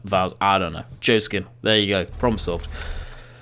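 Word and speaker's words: Joskin: I'm pretty sure it was pronounced Joshskin, but we will actually have a look. Yeah, it's Joe Skin. There's no Josh Skin.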